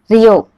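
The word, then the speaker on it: りょ: Ryo.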